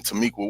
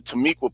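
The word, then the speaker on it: Timucua: of the tamiqua people as you call them tamiqua which i know you're mispronouncing their name but anyway if you really wanted to show what they look like use the image of the tomeka people yet you use the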